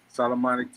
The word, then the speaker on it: Solomonic: And you'll see the same avatar up on up on How do you pronounce that? Solomonic TV.